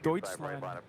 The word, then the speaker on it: Deutschland: It's more like Deutschland.